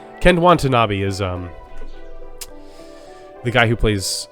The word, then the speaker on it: Watanabe: And then Ken Wanta being rude to other ants. Wanta not being rude. Sorry, I messed that up. He just... Who is that? I missed a syllable in his name. Ken Watanabe is the guy who